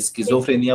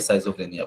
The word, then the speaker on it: schizophrenia: अलग अलग देश के लोग इसको अलग अलग वर्ड बोलते हैं, कोई स्किज़ोफ्रेनिया बोलता है, कोई साइजोफ्रेनिया बोलता है, ठीक है। सो स्किज़ोफ्रेनिया हम बोलेंगे स्किज़ोफ्रेनिया, आप साइजोफ्रेनिया बोल लो, कोई दिक्कत नहीं है, स्पेलिंग याद रखना है बस, ठीक है।